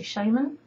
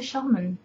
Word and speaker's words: shaman: Same as mana. Americans say Shaman. I say Shaman.